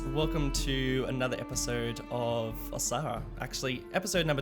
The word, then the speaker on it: Osahra: Osahra.